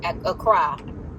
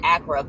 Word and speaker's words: Accra: a trip to ghana to acro at accra they pronounce it i pronounced it accura but i found out that i have not actually been pronouncing it correctly but anyway i am